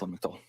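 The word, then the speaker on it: Lamictal: The pronunciation, that's also referred um to commonly as um, lamel. It is correct. Lamel.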